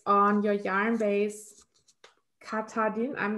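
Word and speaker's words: Katahdin: And it's on your yarn base, Katadin. I'm not sure how to pronounce that correctly.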